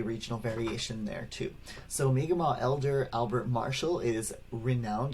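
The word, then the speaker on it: Mi'kmaq: nation as well but the most common pronunciation that i've heard is miguel all right so uh again there might be regional variation there too so mega maw elder albert marshall is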